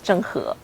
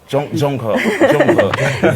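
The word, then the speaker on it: 郑和: Et le nom de la personne en chinois qui prononce Zheng He. Zheng He.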